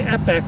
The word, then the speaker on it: epoch: hey uh how did how would you pronounce that he goes i'd say epec with the upside down e yeah yeah and um